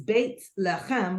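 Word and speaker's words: בית לחם: it so it is Baked Ham which is how you pronounce my name in Hebrew and it literally means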